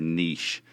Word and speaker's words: niche: Everybody that I feel like is successful, is it niche or niche? I hear it pronounced both ways. That's a really good question. Niche kind of drives me crazy when people say